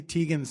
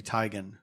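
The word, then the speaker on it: Teigen: saying it that's like Chrissy Tegan's name is actually Chrissy tigan no yeah but it's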